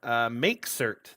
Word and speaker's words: mkcert: We're talking about MakeCert this week, which is how I believe you pronounce it, but it's spelled MKCERT.